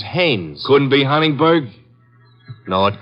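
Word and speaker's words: Haines: Hines used to fish out no no not Hines hannes couldn't be Huntingburg no it couldn't be the name is hannes h a i n Hanes give me your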